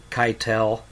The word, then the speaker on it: Keitel: of my son, Vitaly Keitel. Yeah. We pronounce it like Harvey, our uncle, the actor, gives us street credit.